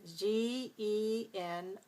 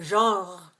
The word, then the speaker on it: genre: And in French, we say genre as if it were one syllable, but in English we pronounce it with two syllables. We say genre. So in a word like that, we use the sound j at the very beginning.